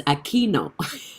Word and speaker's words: Aquino: attend his life and he always mispronounced my name but i always wanted to have a chance to let him know it's aquino and this is my